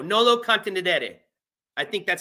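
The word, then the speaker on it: nolo contendere: It's Latin, which I already knew, but I didn't know how to pronounce it. It is, okay, hold on. Contenedere. There we go. Nolo contenedere.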